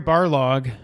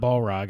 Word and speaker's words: Barlog: Corey Barlog, not Balrog, I say it wrong every time, said God of War will not be there.